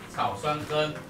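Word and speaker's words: 草酸根: 草酸根，又叫乙二酸，啊，草酸根。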